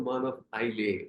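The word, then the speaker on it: Isle of Man: அவங்ககிட்டயே போய் சொன்னேன், நீங்க வந்து உங்க கண்ட்ரி எப்படி ப்ரொனவுன்ஸ் பண்றீங்க, ஐ வாண்ட் டு நோ. அவங்க சொன்னாங்க மான் ஆஃப் ஐலே அப்படி.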